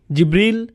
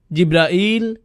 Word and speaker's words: জিবরীল: বলেন কিভাবে উচ্চারণ করেন তার নাম জিবরীল জিব্রাইল জিব্রাইল জিব্রাইল জিবরীল এই পাঁচ ভাবে তার নাম উচ্চারণ করা হয় আর এটা বিভিন্ন কিরাতের মাধ্যমে বর্ণনা করা হয়েছে ইল ইল মানে আল্লাহ সুবহানাহুওয়া